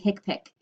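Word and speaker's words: HCPCS: system so the hick pic coding system it's pronounced hick pic like H I K Pik hick pick it is called the healthcare common procedure coding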